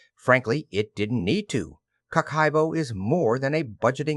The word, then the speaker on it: Kakeibo: Kakeibo, pronounced Kakeibo, translates as household financial